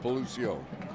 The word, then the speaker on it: Belucio: With apologies to the Flower Bluff quarterback and this announcer putting the emphasis on the wrong syllable. Last name is pronounced Belucio.